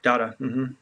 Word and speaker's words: Dada: conversation that I think the distinction was that daada is um is I'm I pronouncing that right yeah dada yeah dada is uh more just like absurd